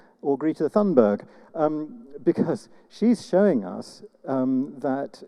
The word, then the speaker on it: Greta Thunberg: The thing that makes me hopeful is, to pronounce her name correctly, Greta Thunberg, or Greta Thunberg, because she's showing us that we have reason to hope.